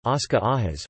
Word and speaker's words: Óscar Arias: Óscar Arias Sánchez, Spanish pronunciation, Oscar Ajas, born 13 September 1940 in Heredia, Costa Rica,